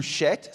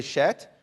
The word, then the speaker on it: Shet: Seth, the second son there, or the third son, is in Hebrew Shet. Say Shet.